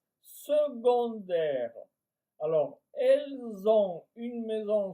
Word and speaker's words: secondaire: Secondaire, ça s'écrit S e C. O mais on prononce secondaires.